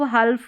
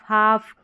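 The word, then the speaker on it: half: Number 17 में है शब्द के अंत में ये एल एम एल के एल एफ एल डी हो तो एल का उच्चारण कई बार नहीं होता कई बार नहीं होता मतलब मैक्सिमम ठीक है जैसे इसको काल्फ हल्फ योल्क फोल्क टोल्क नहीं पढ़ेंगे यहां पर इन सभी स्पेलिंग में जो है एल साइलेंट है जैसे जैसे काफ, हाफ, योक, फोक और टॉक। इस तरीके से इनका उच्चारण आप करेंगे।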